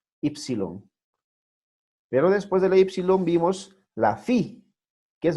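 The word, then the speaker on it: ύψιλον: Luego viene Ypsilon. Ypsilon, mayúscula, minúscula. Más o menos parecida a nuestra U en español, ¿verdad? Ypsilon. Ypsilon. Pero después de la Ypsilon vimos la Phi, que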